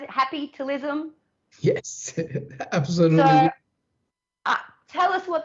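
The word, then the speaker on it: Happytalism: i pronounce that right is that how we pronounce it happy talism yes absolutely tell us what that's about i'm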